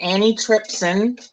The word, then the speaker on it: antitrypsin: Alpha-1 antitrypsin deficiency. oh, is that That's how what you pronounce that?